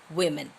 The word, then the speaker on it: women: I've told you the pronunciation is woman, and for the plural form you say women.